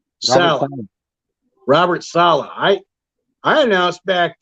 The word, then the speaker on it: Saleh: Is it Saleh or Salah? Salah.